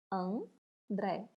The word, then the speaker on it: André: André. Vamos chamar? André. A sílaba tônica está aqui, última. Se ela é a última, ela é uma palavra oxítona.